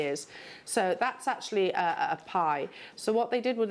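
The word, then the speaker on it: bi: of a ritual object called a pie it's spelled b-i um and also Kong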